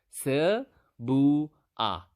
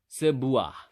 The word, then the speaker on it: sebuah: say L or n you can just say sir bua okay how do you say it again sir bua sir boo-ah sebuah okay so a book